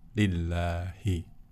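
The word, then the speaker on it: لله: Kalau kita menemui huruf seperti ini tanpa alif, dibacanya adalah lillahi.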